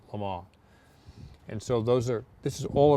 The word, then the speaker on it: Le Mans: Cobra Le Mans, or Le Mans, but it's pronounced Le Mans.